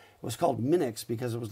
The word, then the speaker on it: Minix: But basically, but Linux also rhymes with Minix. Was it M-I-N-I-X or was it M-I-N-U-X?